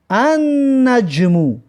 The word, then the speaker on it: النجم: مثلا ببینید که نجمون ستاره، وقتی که الف لام قوشش کردیم نمیگیم که النجمو، نمیگیم لام تلفظ نمیکنیم، میگیم که النجمو، یعنی ستاره معین.